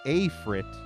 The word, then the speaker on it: Afrit: So Afrit, you know, like aphid, like a bug, you know, aphid.